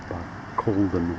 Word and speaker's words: Barcaldine: Longreach has a monument to them, and as I say, this is Barcaldine, spelled Barcaldine, Barcaldine it's pronounced, not Barcaldine as I was calling it.